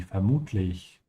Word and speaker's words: vermutlich: Also vermutlich, make sure you pronounce it with the F sound, is presumably, vermutlich.